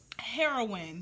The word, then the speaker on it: heroine: up the definition of heroin that's how you pronounce the h-e-r-o-i-n-e like um the heroine's